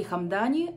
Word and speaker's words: Hamdani: сти где она почему-то называется хам Дани Судя по тому с чем она рифмуется но я смотрела перевод с арабского всё-таки это и поэтому я называю это хамда с ударением вот таким и очень Мне